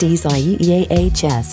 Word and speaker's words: Isaias: eastern the center of isaias which is written as isaiah's in spanish and pronounced easies had crossed into southern